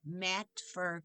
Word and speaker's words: Matfer: with a large round 2 and 3/4 inch mat fur cutter. Mat fur is spelled Matfer.